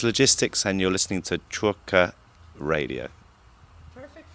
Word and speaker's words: Czwórka: Hi, it's Logistics, and you're listening to Czwórka Radio. Perfect pronunciation, wow.